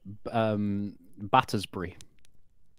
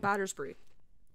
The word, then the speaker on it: Battersbrie: It's called Battersbrie. Yeah. There's I love a, there's it when a food my players theme. World for me. spelled like the cheese. Not, instead of Burry, it's Brie. Oh.